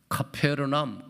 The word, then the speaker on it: 가버나움: 있습니다 그 말 이름이 가버남 정확한 거기서 발음으로는 카페르남 카페르남 거기에 예수님 시대 때